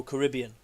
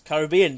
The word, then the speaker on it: Caribbean: It's like the way, I'm not going to be a thing on Americans here, but I hate the way so many Americans say Caribbean. They go Caribbean. It's Caribbean, damn it.